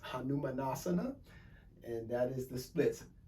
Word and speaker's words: Hanumanasana: she's doing the splits in sasquatch that is pronounced hanumanasana and that is the splits kirsten is tall